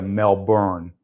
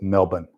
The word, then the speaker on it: Melbourne: So people here in San Francisco will pronounce that city in Australia Melbourne, and I've always been told it's Melbourne.